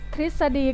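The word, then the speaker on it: ทฤษฎี: นะ คะ ต่อ ไป การ อ่าน ออก เสียง เป็น ริ เช่น ฤทธิ์ ก็ คือ ผู้ มี เสื้อ ผ้า นะ คะ สิ่ง ศักดิ์สิทธิ์ กฤษณา ก็ คือ ส่วน ของ เนื้อ ไม้ ซึ่ง มี สี ดำ พี่ ตฤณ ก็ คือ หญ้า ทฤษดี ก็ คือ หลัก เกณฑ์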